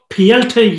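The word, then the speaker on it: Petr: for the bantamweight championship pielte yan i think that's how the russians pronounce it i'm just going to call it yeah not peter no mercy and defends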